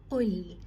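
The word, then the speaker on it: قُلْ: Qaf is a heavy letter, Lam is light, so you have to retain both of their properties by saying Qul.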